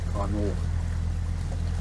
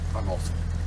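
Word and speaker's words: Canow: Kano. Kanoff, wie manche sagen. Nirov. Spricht man hier aber nicht aus.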